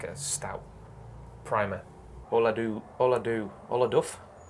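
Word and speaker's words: Ola Dubh: a car anyway there all i do it's pronounced all i do you're right well i do well i do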